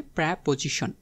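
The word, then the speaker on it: preposition: বলব যে এডভার্ব সো প্রিপজিশন এটা মানে কি প্রেপজিশন এটার প্রোনাউন্সিয়েশন হবে প্র্যাপজিশন পজিশন মানে হচ্ছে অবস্থান প্রি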